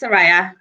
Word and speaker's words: Sureya: saying your name right it's pronounced saraya soraya thank you so much